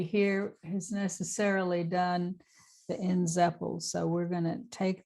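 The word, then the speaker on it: Nzeppel: thing we're going to do is look at ends Apple and that is spelled n z e p p e l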